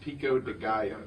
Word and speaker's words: pico de gallo: Also, Charlie, it's pronounced Pico de Gallo.